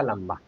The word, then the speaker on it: लंबा: पहला शब्द हमने लिखा लंबा। यहां पर अनुस्वार का उच्चारण म के रूप में हो रहा है। लंबा यानी आधा म।